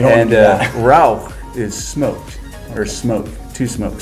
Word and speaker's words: Rauch: And so it's very important to pronounce it Rauch and not Rausch.